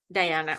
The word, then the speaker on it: Diana: Do you pronounce it Dajana or Diana? Good morning, Diana. Diana, okay, perfect.